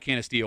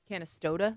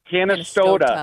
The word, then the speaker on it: Canastota: It's not Canasteo. Where is the Boxing Hall of Fame? Oh, God damn it. No, I think you had it right. Canastota?